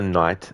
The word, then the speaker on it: knight: well you know Oliver Knight and Knight well that's a good that's actually a good point Oliver like I can understand why they would have the cas silent in that version of KN because it's a completely